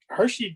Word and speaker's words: Hirschi: It's Hirschi. like the candy bar. Only not spelled like it, right?